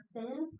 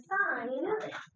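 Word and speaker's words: sine: It is pronounced sign, not sin.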